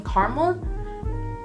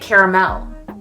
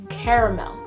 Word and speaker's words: caramel: just ignore the l it's like people who ignore the and caramel why do you do that i'm talking to you midwesterners i remember i showed up there and this lady corrected me when i was trying to order a sunday and she was like you mean caramel no honey i meant caramel caramel there's an a there for a reason burnt takis now you